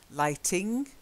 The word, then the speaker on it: lighting: Lighting, there's no n in the middle. Lighting. Then lightning. And then lightening. Okay. So you've got lightning. And then you've got lightening.